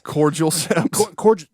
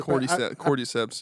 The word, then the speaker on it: Cordyceps: cordial seps. Yeah, I probably... Cordyceps, yeah. What is it? It's spelled cordyceps, but they say like cordyceps.